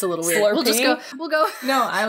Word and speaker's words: SLRP: Do we pronounce this slurp? Yes.